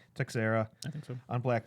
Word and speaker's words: Teixeira: it's Texera. Teixeira I think so.